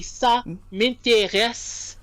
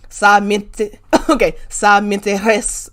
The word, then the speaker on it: ça m'intéresse: I heard a little more of the Spanish R, right? That's like a But we want the we want to take it way back. So that would be ça m'intéresse. Okay. Ça m'intéresse pas. Ça m'intéresse. Yeah, we want to feel it. We want to feel it in the back of the throat.